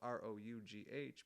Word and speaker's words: rough: fantastic and that word rough is kind of strange it's spelled ro ugh but it's rough like enough yeah that's the way